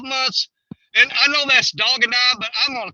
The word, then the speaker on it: Dog and I: It's not Dogandi. That's just what I call it.